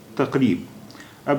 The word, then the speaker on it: تقریباً: اب اس کے ساتھ الف اور اس پر دو زبر جڑ گئے تو یہ ہو گیا، ابھی الف پر دو زبر آ گئے تو اب اس کا تلفظ ہو گیا، اس کا اچارن ہو گیا تقریباً.